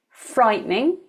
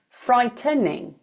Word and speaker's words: frightening: So you can see some people might say frightening, some people might say frightening. Both are correct.